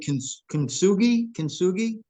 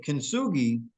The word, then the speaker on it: kintsugi: Yeah, Now, of course, I'm sure you're familiar with kintsugi, into with yes.